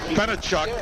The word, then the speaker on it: Benechuk: ken by the way i mispronounced the game uh name earlier and i wanted to get it straightened out it's benechuck is the wide receiver number 28 jason benechuk and i don't think i pronounced his name out that way earlier can keep elias is